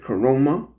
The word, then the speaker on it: Caroma: called the coroma that from my understanding that's how they pronounce it coroma this company specializes I'm